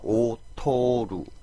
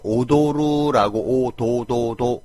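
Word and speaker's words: 劣る: 떨어지라고 할 때는 기구가 오토루 오토루라고 해주면 됩니다 근데 만약에 오도루 도라고 해주면 춤추는 뜻이 버리죠 그래서 오토 세게 발음해 줘야 됩니다 기술력이 뛰어나다 기가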